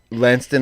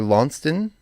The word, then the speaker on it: Launceston: Szczecin, Poland, Gloucester, or I guess that would be Gloucester, England, because it's spelled exactly the same. Launceston, Australia, or Launceston, Australia.